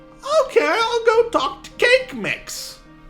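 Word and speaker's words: Kaqemeex: pronounce it cat techniques if i go to the wiki pages we would say cake cake mix cake your name is cake mix okay and he will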